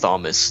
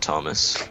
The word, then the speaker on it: Thomas: And my name's pronounced Thomas, not Thomas.